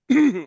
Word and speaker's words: Yahweh: But Yahwh is the Hebrew pronunciation of the most high.